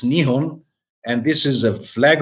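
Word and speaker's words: 日本: so japan as we say in japanese it's nihon and this is a flag of japan and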